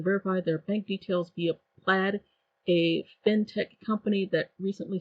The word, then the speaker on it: Plaid: the business name is plaid pronounced like the I guess fabric design so it's plaid I kind of like calling them played but um if it's